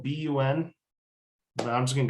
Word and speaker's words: BUN: can look at is b-u-n now guys i'm going to give you a heads up here i get in trouble for this one it's supposed to be pronounced b-u-n and apparently i've been